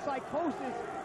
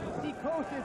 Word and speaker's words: Psicosis: By the way, not to confuse our fans, Psychosis is the American pronunciation. Psychosis is the Mexican pronunciation. We even use the Mexican spelling.